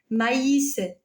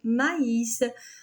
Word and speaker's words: maïs: Alors, le tremma, le tremma se place sur la deuxième voyelle d'un groupe pour indiquer qu'elle se prononce séparément. Regardez en Noël, maïs, naïf.